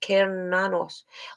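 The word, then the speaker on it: Cernunnos: sexualized powers are increased about karanos pronounced keranos also known as Hern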